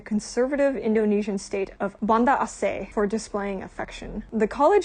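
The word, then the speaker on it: Aceh: I know there is this one part called assay it's spelled a c e h that does practice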